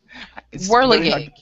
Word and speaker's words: whirligig: No, it's Whirligig.